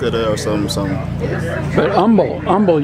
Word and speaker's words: Humble: But umble. Um you don't pronounce the h.